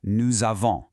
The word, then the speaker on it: nous avons: That is a liaison, and it's pronounced nous avons.